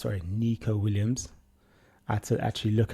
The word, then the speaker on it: Neco Williams: and he literally said, "My name is Nico Williams, not Neco Williams."